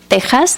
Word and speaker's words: Texas: novel Texas in espanol Tas though it has an X it's pronounced like Mexico Mexico with the X um that was translated